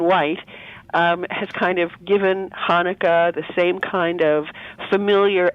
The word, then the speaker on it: Hanukkah: Hanukkah is a Hebrew word, but the first letter of it is a chet, which has no comparable sound in English. And so people spell it however they want to, really. Many people who spell it with a CH do it not because Hanukkah sounds like the sound of chair, but because it indicates